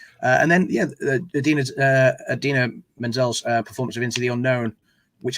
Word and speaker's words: Idina Menzel: you know introducing idina menzel pronounced exactly as it is spelt which is a jibe